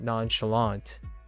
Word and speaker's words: nonchalant: to pronounce this word nonchalant the American version of nonchalant does not have a silent te a lot of times